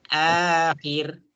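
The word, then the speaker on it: آخر: A-nya itu panjang. Akhir.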